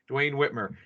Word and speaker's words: Duane Whitmer: guys here life 22 and I've got Dwayne Whitmer I'm pronouncing that right yes yes okay great so